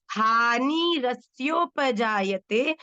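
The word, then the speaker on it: हानिरस्योपजायते: एक तो बेटा हानि रसयो नहीं है। देखो बच्चों, जब आप किसी भी शब्द का पूर्णतः उच्चारण करेंगे, रसयो, इसका अर्थ क्या हुआ? स क्या है? पूरा। पर यहाँ क्या है? आधा। तो ये क्या हो जाएगा? हानि रस्योपजायते। ठीक है?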